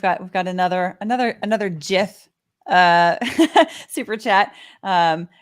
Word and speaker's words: GIF: we've got another another GIF uh Super Chat um Graphics interchange format say graphic say Graphics it's not giraffic uh inventor is smart